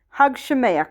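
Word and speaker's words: חג שמח: Hug Shemayach, hug Shemayach, hug Shemayach. You got to say it like you're hucking a loogie.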